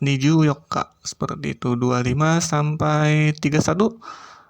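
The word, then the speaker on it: 二十四日: Kemudian 21 sampai 23 mengikuti bilangan, kemudian 24 juga khusus sebagaimana pengucapan tanggal 14. Jadi pengucapannya untuk tanggal 24 Niju Yokka seperti itu.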